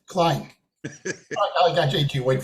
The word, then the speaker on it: Klein: Klein? Klein, not White. Klein.